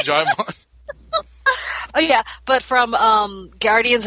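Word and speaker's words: Djimon: Jaimon, yeah. Okay, because I've never actually heard his name said out loud. Yeah, I thought it was Digimon for a long time. It's Jaimon.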